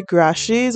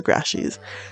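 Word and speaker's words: Grashey: apples they have the grashes or the gray she's not not sure how to pronounce that i think it's grassies that's how i pronounce it anyway they have the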